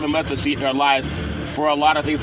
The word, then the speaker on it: LIV: It is pronounced LIV as Live Free, and it's not an acronym.